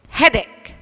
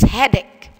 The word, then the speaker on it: headache: body with calcium next headache and you must remember that the h by the end of this word is silent it's headache what do you mean